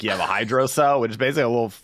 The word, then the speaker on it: hydrocele: How's it pronounced? Did you say The doctors all hydroflask? said hydrocell.